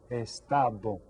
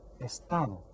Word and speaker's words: estado: Estado. Try that. Estado. 3 syllables. Which one has the accent? The second one. Estado.